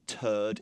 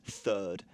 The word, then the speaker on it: third: No, to get you back for correcting Frank's pronunciation, that word is not turd, it's third.